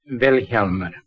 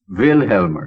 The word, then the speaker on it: Vilhjalmur: Vilhjalmur. The accent's on the first syllable. Vilhjalmur.